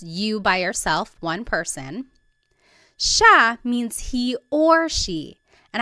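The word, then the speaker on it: siya: so it's just you by yourself one person sha means he or she and I want to point out that sha is gender neutal that means you have to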